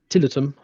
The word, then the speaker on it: Tiletum: And then my final one of the day was Tiletum, or Tiletum, apparently is how it's pronounced, which is, it's not a tea game, even though it begins with T.